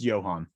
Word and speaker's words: Johan: an apostrophe before the end how do you pronounce this uh just Johan Johan Sebastian like that big job Johan last